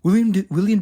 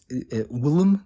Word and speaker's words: Willem: Vampire, people are like, William Dafoe. First of all, they get people, I guess I didn't pronounce his name right. And Willem Dafoe, I think has actually pronounced his name.